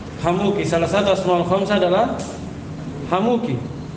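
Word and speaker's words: حموك: satu asmaul khamsah adalah hamuki. Huwa bikasril kafi. Cara bacanya kata beliau dengan dikasroh kafnya.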